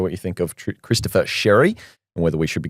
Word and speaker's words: Xerri: Spelt scary, pronounced Shery.